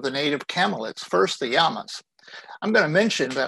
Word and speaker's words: llama: First, the llamas. I'm going to mention that I am pronouncing this as it is in Spanish. The double L is pronounced like a Y in English, so it's llama, not llama.